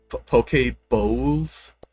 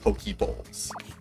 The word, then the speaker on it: poke bowl: Poke bowls. You know those rice bowls. I got to pronounce it correctly because otherwise it's going to sound like Poké Balls.